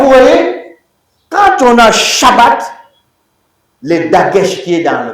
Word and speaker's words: Shabbat: Parce que Shabbat, c'est la contraction, vous voyez, de Shav, et puis quoi? Bat. Et puis boum, on met ensemble. Ça devient Shabbat.